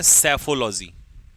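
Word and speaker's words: psephology: कौन जीतेगा कौन हारेगा इसे कहते हैं सेफोलॉजी पीस साइलेंट सेफोलॉजी ठीक है पैथोलॉजी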